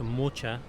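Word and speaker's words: Mohács: called the Battle of mohax pronounced mocha by the hungarians and it was a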